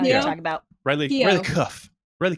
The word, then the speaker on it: Keough: Cuff. Riley Keough. I think it's Keough because I did actually look up the pronunciation.